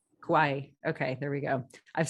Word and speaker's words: Kauai: in Baltimore New York City Boulder and now Cowie right Kauai okay there we go I've seen it written